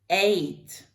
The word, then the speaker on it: ate: Eat, ate. Ate, like the number.